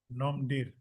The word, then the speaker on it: Ngomdir: How to pronounce this? NGOMDIR? Nomdir. Yes.